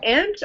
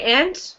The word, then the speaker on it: aunt: do you pronounce it aunt or Aunt Aunt Oh either is fine actually you can say ant which is pronounced like the animal ant or you can say